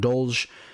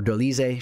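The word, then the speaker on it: Dolidze: The victory over Roman Dolge. Or Dolize, should I say.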